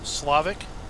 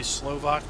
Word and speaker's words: Slovak: And I was apparently called out on my map video of that, where I kept calling it Slavic. So I tried to deliberately say Slovak now, because apparently that's the correct pronunciation.